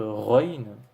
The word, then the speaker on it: غين: et la lettre ruines qui s'écrit phonétiquement g h et qui correspond entre guillemets ou un air de notre alphabet en fait c'est un air mais beaucoup plus prononcée donc vous vous imaginez lorsque vous dites le r et ben vous vous appuyer un peu plus voilà vous prononcer un peu ça soit un peu plus prononcée donc run présente avec